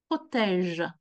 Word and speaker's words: protège: Un maillot, un short, des chaussettes, des protèges tibia. Amis, the sound that is important here in protège is the je sound.